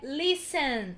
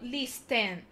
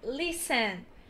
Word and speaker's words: listen: Letter T, a primeira também é muito comum de se errar e o correto é listen e não listen. É listen.